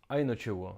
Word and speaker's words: einogtúgu: In this system, the ones come before the tens, 21, that is, einotjuo, literally 1 and 20.